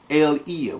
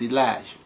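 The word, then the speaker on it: Eliyah: You hear the name of Yah in the names of Israelites, okay, of our forefathers: Yahudah, Eliah, which most people pronounce Elijah, okay, Hezekiah, Jeremiah, which in English is Jeremiah, okay, Yahoseph, which in English is Joseph, okay.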